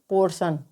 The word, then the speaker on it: portion: PORTION। तो आप यहाँ पर देख सकते हैं कि टी के बाद में ION, तो यहाँ पर टी का उच्चारण श होगा। तो यहाँ पर टी का उच्चारण श होगा। PORTION को हम क्या पढ़ेंगे? पोर्शन।